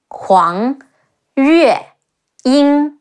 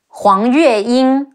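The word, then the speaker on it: 黄月英: Next, Lady Huang, Zhuge Liang's wife, Huang Yue Ying, He Wu Ang, Huang Yue Ying, Huang Yue Ying.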